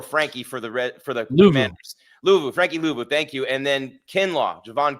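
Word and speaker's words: Frankie Luvu: 2 times Kyle, and I forget how to pronounce his name every time, but number 4, Frankie for the Commanders. Frankie Louvu, thank you.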